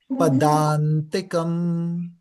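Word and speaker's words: padāntikam: Remember the A with the line on top is pronounced as A. So Padantikam.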